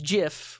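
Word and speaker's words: GIF: this um yeah it's jif with a soft g do you pronounce gin as gin no you don't okay but we're gonna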